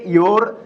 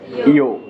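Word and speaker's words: your: শেষে যদি আর থাকে, সেই আর সাইলেন্ট হয়ে যায়, সেই আর উচ্চারণ করে না, বুঝতে পারছেন? তাহলে এটা ইয়োর না বলে কি বলে? ইও।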